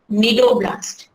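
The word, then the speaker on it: cnidoblast: We also call it as nidoblast. C is silent over here.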